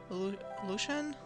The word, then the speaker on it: Lucian: I'm Lucan. Is it how you pronounce it? Lucan. Lucian? Or Lucan? I think Lucian.